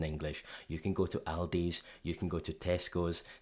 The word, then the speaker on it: Aldi: So when they're saying Aldi, again, that's not a great imitation of the way that they pronounce it, but they're using their palm vowel. It's the vowel from father, spa, lager. That's just how it sounds in their accent.